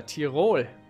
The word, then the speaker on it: Tyrol: Or rather Tyrol, as it should be pronounced by any good German and Austrian and even Swiss man, woman and child.